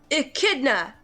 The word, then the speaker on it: echidna: try it this way the e is pronounced like an i in the name ricky the middle part is pronounced like the word kid the last part is